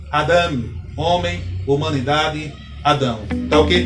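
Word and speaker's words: אדם: O segundo vocábulo, observe que eu não coloquei a setinha, subentende que a sílaba tônica é a última sílaba desta palavra. Então, a pronúncia aqui seria Adam.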